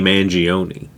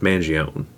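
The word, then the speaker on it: Mangione: name is Luigi and I think people think it's funnier to say Luigi mangion I don't know because I'm pretty sure that name is pronounced Manion I don't know I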